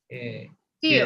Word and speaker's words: feel: Double E, double E, suena como I, right? Feel, and here is just fell.